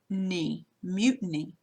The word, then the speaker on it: mutiny: Okay, so it's going to have the OO with a line over it, making the U sound.